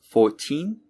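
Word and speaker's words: fourteen: could you hear it for numbers in the teens the second syllable the teen is stressed for multiples of 10 the first syllable is stressed so it's 14 and 40.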